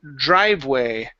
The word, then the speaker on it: driveway: Let's go to um the word driveway right here. Instead of drive, drive away. Okay, the e is silent.